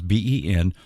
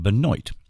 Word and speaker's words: Benoit: going to know right because it's from louisiana so it's spelled one way and pronounce another so it's b-e-n-o-i-t is pronounced benoit okay for our friends